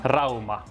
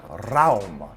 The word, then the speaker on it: Rauma: How do you pronounce Rauma? Rauma. Rauma.